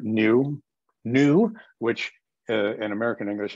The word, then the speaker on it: nu: called new is because it sounds like new especially from an american so the so the